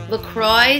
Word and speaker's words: LaCroix: to pronounce it and they basically say Lacroix sounds like enjoy and we hope you